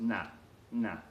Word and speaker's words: nada: up in here now that pronounced nah nah they just kind of make the a a little bit longer and they eat the D that they say call